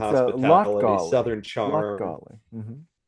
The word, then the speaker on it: Latgale: Like, southern It's hospitality, Latgali. southern charm, Latgali. Hmm. Latgala. Yeah. This Latgale. Latgale. Latgale. Yes, you got it. Latgale. Let's argue about Latvian pronunciation.